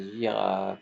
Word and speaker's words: girafe: Voilà, le mot c'est girafe.